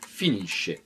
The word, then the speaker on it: finisce: Je vais donc prononcer finisci, finisce.